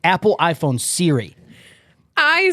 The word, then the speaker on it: Surrey: you pronounce things because apparently I pronounce Surrey wrong, so I can't. You just and I'll bet people don't even know what you just meant to say. That's how wrong you say it. It's Siri, like Apple iPhone Siri.